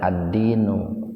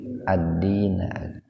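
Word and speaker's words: الدِّينَ: atau disebabkan ada Inna maka dibacanya itu tidak addinu atau abdini tapi Adina dan kata Din di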